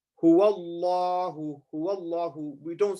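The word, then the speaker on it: هو الله: We would say, in the first example, we would say Huwallahu, Huwallahu. We don't say Huwallahu. We say Huwallahu. Now Allah is full mouth. Why? Because the letter before has a fatha.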